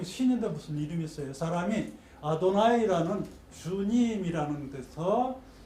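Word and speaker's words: Adonai: 자음만 나오니까. 근데 읽지를 못해. 요드 해, 요드 바브 해 이렇게 나오는데 읽지를 못해. 그걸 아도나이라고 읽어요. 그냥 전혀 다른 발음을 해요. 아도나이, 나의 주님 이렇게 읽어요.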